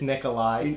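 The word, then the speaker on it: Nikolaj: Nicola Nick Nick nickel lush the collage he's pronouncing the J at the end it's Nikolai nipple yeah no that's a but it's basically an I the Jays mental I elders so close Nikolai Ehlers love the Winnipeg Jets that was definitely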